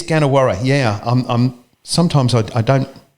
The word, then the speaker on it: Gannawarra: pronounce this correctly folks get Jenna whare sorry it is gonna worry yeah I'm sometimes I